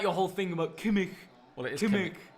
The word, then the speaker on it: Kimmich: Yeah, but this is like your whole thing about Kimmich. well, it is Kimmich. Kimmich. Oh, that's how you pronounce his Yeah, name.